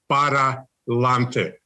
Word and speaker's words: pa'lante: Pa'lante, siempre pa'lante. Pa'lante, siempre pa'lante. So the correct Spanish is paralante. Paralante. To go forward.